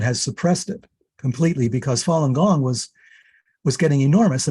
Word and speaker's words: Falun Gong: internet so it's pretty it's spelled well it's pronounced falun gong it's spelled f as in frank a a-l-u-n one word and gong g-o-n-g just okay go and look at falun gong they've been tremendously suppressed in china but more